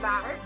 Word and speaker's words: Bilar: Can you pronounce it? Bilar. It's Bilar.